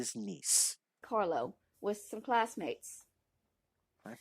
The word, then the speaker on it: Nice: Nice and Nice, but we'll actually kind of forgive her on that pronunciation because that's a common one. So Nice, but it is Nice.